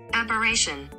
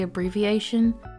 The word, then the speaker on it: aberration: me to be honest I'm not really sure how to say that word operation according to Google that's how you say it but in my mind I always say abbreviation and it makes me happy so if I refer